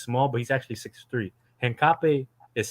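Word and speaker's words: Hincapié: How do you pronounce Hincape? Hincape.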